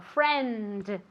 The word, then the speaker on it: friend: Entonces, especialmente al final de una palabra, en España tendéis a comeros esta letra, ¿vale? Y no hay que hacerlo, sino que hay que decirlo. Friend.